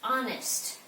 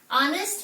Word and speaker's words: honest: the words honest and do not pronounce the H honest honest means you are truth